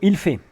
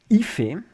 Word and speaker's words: il fait: You have il fait, so-called proper pronunciation. In the context of talking about the weather, most people never say it like that. And that excludes medieval knights, wig-wearing noblemen, and poorly informed Americans. So il fait, proper, so-called proper pronunciation. Ife is the most common pronunciation.